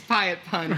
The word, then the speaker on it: Piatt Pund: and so it's like you can say my name you know how you want to say it to alexa but it's pie it fun but it's amazon apparently